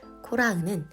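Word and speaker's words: קֹרַח: 코라흐는 고라의 히브리식 발음입니다. 코라흐의 어근은 카라흐로 카라흐는 자신을 대머리로 만들다라는 뜻을 가지고 있으며 코라흐는 대머리라는 뜻을 가지고 있습니다.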